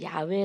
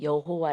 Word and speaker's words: 야훼: 여호와라 볼에는 개편이 어렸지만 이것을 조금 더 음 언어의 가깝게 표현하면 야외 라는 것이 이 것이 정확하다 그래서 많은 머신 학자 뿐만 아니라 우리도 20 어깨 더 놀이 좋은게 목사님이 이제 조금 더 정확한 발음이 여호와 란 발음 보다는 야외에 나는 그러한 바릅니다 이래서 우리는 단지 여호와라 안하고 야외 라고 같죠 그런데 하튼 지금 운영에도